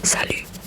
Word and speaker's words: salut: It's just with a T, but you don't pronounce the letters that are at the end. So you just say salut, salut, salut, salut, mon ami. Salut, salut. And you pronounce the U in French like U, U.